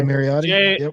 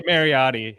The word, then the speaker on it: Mariotti: J Marotti. Jay Mariotti.